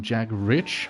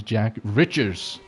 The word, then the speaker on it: Jack Riches: Uh called him Jack Rich. That is not his name. His name is Jack Riches.